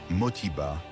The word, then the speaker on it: Modibo: Certaines sources indiquent qu'il se nommait à l'origine Modibo, un nom qui serait devenu Motiba en raison de la prononciation Mossi.